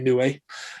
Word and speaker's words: Inoue: I think I pronounced his first name right, but I know his surname is definitely Inoue.